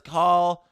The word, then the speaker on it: Cal: James Stemler says call has the same pronunci pronunciation as call clutterbuck call.